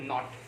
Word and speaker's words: knot: के उसमें बांधते हैं, तो उसको बोलते हैं नॉट. के साइलेंट, है ना.